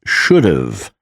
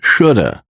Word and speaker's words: should have: Should have is pronounced as should've before a vowel. I should have eaten a bigger lunch. Should have is pronounced as shoulda before a consonant.